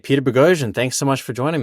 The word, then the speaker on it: Boghossian: ban for the Peter ban rhymes with explosion baby rhymes with explosion